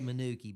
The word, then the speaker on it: Manuka: You know, I have to say Manuki because my friends in Jimson would not be happy if I did not say Manuki. Um, even though it's spelled Manuka, it's just one of those things, you know, the locals say it a little bit different.